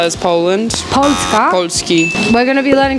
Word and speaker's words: Polski: Polski.